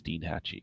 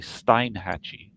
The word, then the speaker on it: Steinhatchee: was very impressed that the Weather Channel knew how to pronounce Steenhatchee. Because I mean, look at it, you go like, this is clearly Steinhatchee, you know.